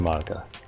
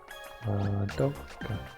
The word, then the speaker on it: Madoka: I always have to think about her name in order to actually like say it correctly, because so many people pronounce it as Madoka to me for a long time.